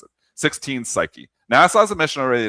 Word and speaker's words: 16 Psyche: It's called 16 Psyche. P S Y C H E E. All right, so the spelling of it, but that's how you pronounce it. 16 Psyche.